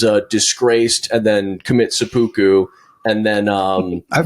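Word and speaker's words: seppuku: and then um I've heard so many different pronunciations of that word. Yeah. I I don't know how you're actually supposed to say it. Sepoku is the one.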